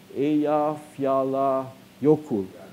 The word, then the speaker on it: Eyjafjallajökull: How do you pronounce it? Eyjafjallajökull.